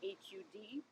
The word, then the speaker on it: har: mantra is this so h-a-r pronounced almost hud we're going to chant